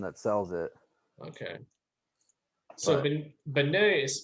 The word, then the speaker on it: beignet: is the one that sells it okay so bene is spelled b-e-i-g-n-e-t yeah there you go i knew it's a